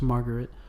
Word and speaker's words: Marguerite: From there, he escapes with Marguerite. I think that's how you say her name, right? Margaret. Oh, it's Margaret. I hate the Japanese spelling of the name because it's spelled Marguerite.